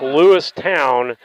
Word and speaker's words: Lewistown: I've got to say that it's Lewistown, as I've been told by people. And so we get ready. Depends on which year you were born there is how they pronounce it.